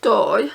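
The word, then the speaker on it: d'Or: It's called Doi, which is spelled D''O''R.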